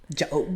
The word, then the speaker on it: Job: only one who's done that but it's actually pronounced job but yes they was playing games with job's